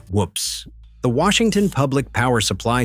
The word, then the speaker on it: WPPSS: WPPSS, pronounced whoops.